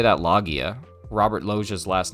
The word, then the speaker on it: Lugia: Logia. Yeah, kind of like Robert Logia. Right. Like how, exactly. Like you wouldn't say that Logia.